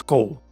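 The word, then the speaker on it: כֹּל: Unless it is kol. Yes, of course Hebrew had to sneak in another exception. You would expect this to be kal, because it only has one syllable, and hence it's the last one, and hence it gets the stress. And since it is closed and accented, it should be a long qamets.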